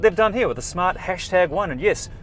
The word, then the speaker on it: Smart #1: And that's what they've done here with the Smart #1. And yes, you do pronounce the word hashtag.